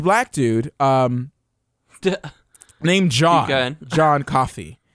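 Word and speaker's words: Coffey: dude named John John coffee right now John coffee yeah I'm coffee um like the drink but not spelled the same not at all yeah that's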